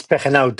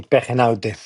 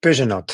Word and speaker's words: Pegenaute: It's Pegenaute. It's a Spanish name. Not easy to say, Pegenaute. Yeah. Okay. Muchas gracias. You saved me from pronouncing that. Gracias, Joe. Yeah, I know. It's a hard one. In French, they say Pegenaute.